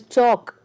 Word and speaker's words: chalk: Then the next word is chalk. So the talk, walk, here L is silent. In chalk, in talk and in walk, L is silent.